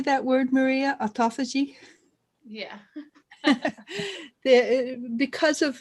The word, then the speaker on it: autophagy: and how do you say that word maria autophagy yeah because of autophagy which means auto feed which you eat your